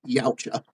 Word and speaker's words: Yautja: can say it, but I pronounce it like, I just stubbed my toe on something. Yaucha.